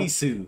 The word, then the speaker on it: Jisoo: Are we saying it wrong? No, I think he just said it wrong. Jisoo.